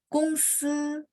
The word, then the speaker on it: 公司: 公司 jadi O dia bunyi agak U ya. Terus G bacanya K. 公司 nomor 3 ya.